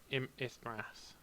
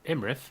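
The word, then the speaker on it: Iymrith: So I'm gonna have an Ithrath, however you pronounce that. Oh, Imrith. Imrith.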